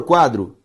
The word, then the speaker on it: quadro: A sílaba tônica de quadro é quá.